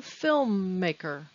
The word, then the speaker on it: filmmaker: filmmaker filmmaker film maker how many syllables is that and where is the stress filmmaker it may be difficult to say l and m film film maker you don't have to make the m longer just because there are